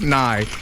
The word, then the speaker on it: Nay: Weston Nay, $2 super chat. My name is pronounced Nye, as in Nye the science guy, I guess.